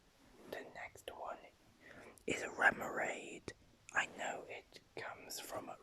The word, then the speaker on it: Remoraid: Wait, So it's Remoraid is based on Remora, according to Bulbapedia. So it's, but I used to pronounce it Remoraid because I was just thinking of Nemo, Finding Nemo.